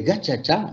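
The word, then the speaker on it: gacaca: Et c'est ainsi que les gachacha, ça s'écrit gakaka, les gachacha ont été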